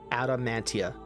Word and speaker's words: adamantia: Also coincidence, but useful, adamantium here is usually spelled with the ada separated off, adamantia. Ada as in the et ada. Mantia as in mantle.